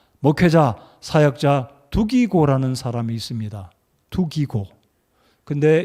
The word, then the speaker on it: 두기고: 두기고. 근데 이 헬라어 발음으로는 굉장히 독특합니다. 튀기고예요.